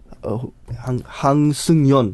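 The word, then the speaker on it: 한승연: Eddy said that Youngson, Han Youngson. Hang Seung-yeon. Yes. Hang Seung-yeon. You got her name wrong.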